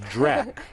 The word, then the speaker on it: DRACH: Not Dracula, but DRAC.